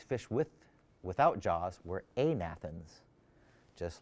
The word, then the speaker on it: agnathans: said it are called agnathans but is it really agnathans you don't pronounce the g when you have natha stones so the fish these fish with without jaws were amathens just like you could